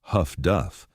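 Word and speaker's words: HF/DF: Highfrequency direction finding, HFDF, pronounced Huff Duff, could detect Yubot radio transmissions and determine bearings with reasonable accuracy.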